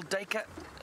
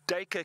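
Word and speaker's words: Duiker: Hang on, there's a little dacre and he's stopped.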